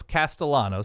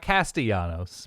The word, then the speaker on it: Castellanos: is calling this game it's Thomas Castellanos so it's not castanos but it's close enough it's very and it's spelled the same uh I like Boston